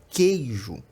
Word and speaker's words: queijo: só a palavra queijo a letra U presente na palavra queijo não é pronunciada a gente não fala com o ejo a gente fala queijo Então essa letra U